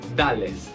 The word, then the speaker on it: Dale's: Porque cuando se escribe, es Mack y Dales. Dales, pero en inglés se pronuncia Dale's. Por eso, claro.